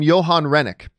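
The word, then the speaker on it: Johan Renck: bringing over the director I believe he pronounced his name Johan Rennick he's actually coming over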